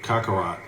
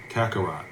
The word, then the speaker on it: Kakarot: This man, I said his name wrong, too. King Kako Kakarat. Kakarot.